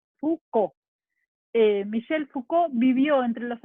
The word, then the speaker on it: Foucault: Fíjense cómo se escribe, no sé si lo alcanzan a ver, pero la pronunciación es más sencilla, Foucault nomás, Foucault.